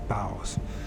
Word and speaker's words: boughs: boughs boughs I keep I call it bows but it's boughs another way of saying